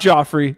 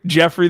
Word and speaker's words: Jeffrey: who I can't trust Jeffrey not Joffrey Jeffrey the giraffe even though it's spelled with the G Jeffrey the giraffe's gonna